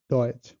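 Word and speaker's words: Deutsch: আর টিএসসিএইচ যেটার উচ্চারণ হলো সিএইচ, সিএইচ এর মতো, যেমন চ এর মতো, টিএসসে এটার উচ্চারণ হলো চ এর মতো, যেমন ডয়েচ।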